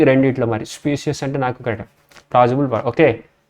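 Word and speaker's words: specious: స్పీషియస్ claim, okay. చూసారు కదా, స్పీషియస్ claim, okay. ఇది స్పీషియస్ కింద స్పెల్లింగ్ దీని ప్రొనౌన్సియేషన్లో తెలుస్తుంది అనమాట. నేనేమో స్పెక్యుయస్ అని చదివాను, కానీ PRONUNCIATION ప్రొనౌన్సియేషన్కి సంబంధించి స్పీసీస్, SPECIES.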